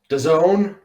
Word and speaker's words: DAZN: chat um first off right daisen doesn't the zone you got it you got it the proper pronunciation you want to know